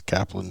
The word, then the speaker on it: Kaplan: This one's from Kaplan because you would have slaughtered that because it's spelled Kaplan. It's Kaplan, Louisiana.